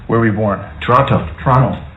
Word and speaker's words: Toronto: Toronto. Canadians don't pronounce the T.